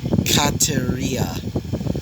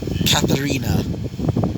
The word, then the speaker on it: Kataria: least, her actual name, which I realized I was saying it wrong, which apparently was, Kataria, not Katarina.